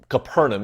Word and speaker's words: Capernaum: right to Peter's house if you've been to kafern or Capernaum is how we typically pronounce it you've probably seen